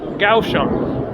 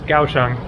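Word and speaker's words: Kaohsiung: which is actually pronounced gaam I don't know why they spell it with a K when the idea it seems is to make the names Phanatic but anyways kaang is pronounced gaang and so uh I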